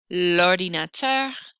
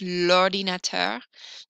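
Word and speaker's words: l'ordinateur: vowel or vowel sound lordinator notice that it's in a smooth sound lordinator la mi and that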